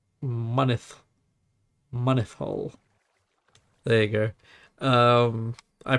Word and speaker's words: Mynyddhaul: So, it's pronounced Mynydd, Mynyddhaul. There you go. I pronounce it Mynyddhaul.